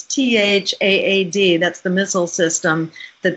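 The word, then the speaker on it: THAAD: go to stop sad it rhymes with sad but it's tha ad that's the missile system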